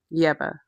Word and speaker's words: Yebba: Yeba. That's how it's pronounced.